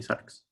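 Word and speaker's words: ⲥⲁⲣⲝ: sorry but it's just sucks it's a greek word if you ask any greek person to say the word for flesh they'll say sucks the next two words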